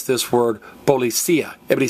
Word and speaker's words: policía: But notice, this noun ends in IA, and like most nouns that end in IA, there's an accent over the I, which means pronounce this word policía. Everybody say policía, policía.